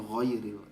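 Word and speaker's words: غير: Ya, hanya di bacaan saja makharijul hurufnya ya diperbaiki, seperti ghairil tadi qairil, kemudian bacaannya qairil ya, harusnya ghairil pakai ghain. Kemudian tahawurukuma Ibu bacanya tahawurukuma, kemudian shinnya ya, huruf shinnya ya, itu lebih ke makharijul huruf.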